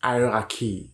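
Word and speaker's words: hierarchy: Donc, vous voyez ce mot, il se prononce hiérarchie.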